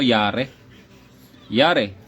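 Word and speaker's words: ירא: Ano ba ito pag-pronounce nito? Yar yar. Yar yar no?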